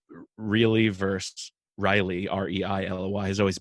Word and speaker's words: Rielly: I always call her Anna Riley, but Yeah. it's actually pronounced really.